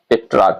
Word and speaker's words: Petrarch: इसको पेट्रार्क भी कहते हैं। स्पेलिंग है PETRARCH, PETRARCH, ऐसा ही है पेट्रार्क। इसको पेट्रार्क या पेट्रार्क कहा जाता है, ठीक है।